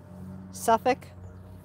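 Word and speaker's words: Suffolk: little bit different but they are suffk Portsmouth norick that's how we pronounced them if you said Norfolk even though it's spelled that way they knew that you were a foreigner hey they were like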